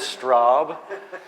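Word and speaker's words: Straube: I tried it with Straub. And he he rhymes with probe.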